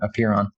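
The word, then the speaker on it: Apeiron: genomic company called apiron and that's spelled a p e i r o n appear on and the appear on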